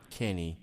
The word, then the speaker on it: Kinny: believe it or not his last name is pronounced the same as my first name so you got a Kenny and a Kenny I'm joining with Rod Kenny he's joining with me